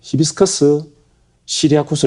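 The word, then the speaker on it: Hibiscus syriacus: 학명이 뭐냐면은 어 히비스커스 시리아쿠스 리네라고 읽어요.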